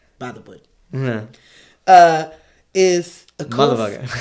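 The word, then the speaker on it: Bythewood: wood by the wood is that really how you say it about by the wood you got to say it together like by the wood mm-hmm uh is a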